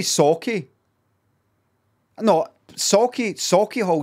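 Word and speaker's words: Sauchiehall: sake i no sake sake hall is probably the correct pronunciation but i know jaz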